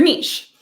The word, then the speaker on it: niche: And we call this your niche or niche. You can pronounce it either way.